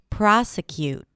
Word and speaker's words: prosecute: And prosecute starts with a P-R and then the as in father. Primary stress, as I said. Then we have a schwa, prose, and then cute.